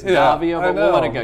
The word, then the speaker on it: Daviau: I'm sitting here right now with Daviau. Nope, I said it wrong. It was really close. It was Daviau and it's Daviau, but we'll let it go.